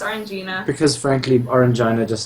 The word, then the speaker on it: Orangina: it Orangina yeah it's Orangina it is actually pronounced Orangina because frankly orina just sounds it does sound